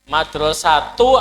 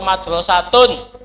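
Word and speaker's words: مدرسةٌ: Madrasatu atau madrasatun. Nah, terapkan ini. Satu tidak ada alif lam, tidak ada. Oh, berarti kalau tidak ada alif lam harus tanwin. Jangan ragu-ragu.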